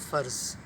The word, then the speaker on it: فرض: لفظ ہے وہ ہے فرض۔ فرض کو بہت ہی غلط انداز سے پروناؤنس کیا جاتا ہے، اس کو فرض بھی کہا جاتا ہے، بھائی یہ تو میرا فرض تھا، میں نے ایسا کیا،